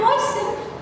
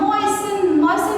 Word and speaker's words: moisten: Taking a cup of milk, I drank some of it and moistened my bread in some. Moisten means just to dip in the milk so it get wet.